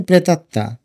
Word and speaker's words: প্রেতাত্মা: প্রেতাত্মা যেভাবে উচ্চারণ করি সেভাবে লিখবে। প্রথমে প্রে, তারপরে তাত, প্রেতাত, তারপরে আবার তা, প্রেতাত্মা। উচ্চারণটা দেখো, এখানে তর নিচে যদিও ম আছে, কিন্তু আমাদের উচ্চারণ করার সময় আমরা প্রেতাত্মা বলি।